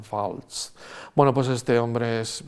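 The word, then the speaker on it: Waltz: un actorazo christoph baltz es que con w Pero cómo sale más se pronuncian Falls Bueno pues este hombre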